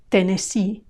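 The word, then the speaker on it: Tennessee: a Minnesota Minesota ten Tennesse the first two e are a Tennesse Tennesse and the last two e are e Tennesse Tennesse these five states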